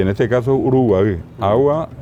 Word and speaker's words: Uruguay: Que hoy decimos Uruguay, claro. Así como Paraguay es Paraguay. Claro. Hasta ahora la gente dice Jata Paraguay, la correcta pronunciación. Uruguay es el caracol de mar, en realidad nasal, un Uruguay.